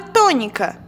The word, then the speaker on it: tônica: A palavra tônica. O tó está acentuada. Então, a gente já sabe que o tó aqui é a sílaba tônica.